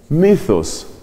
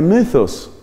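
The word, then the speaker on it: μῦθος: Es un mythos. Esta es la letra Y, que suele pronunciarse como la Y francesa, entre la I y la U.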